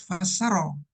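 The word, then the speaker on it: فسّر: Nah, Anda makanya dibilang ini bacanya harus fassaro, ya.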